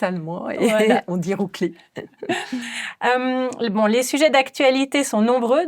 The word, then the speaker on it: Ruggli: J'allais prononcer votre nom à la francophone, mais je pense qu'on doit quand même dire Rougli, n'est-ce pas?